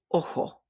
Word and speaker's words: ojo: Where there are some regional differences, the Spanish letter J sounds like a hard H. We've already seen one of these words, so pronounce after me. Ojo, ojo.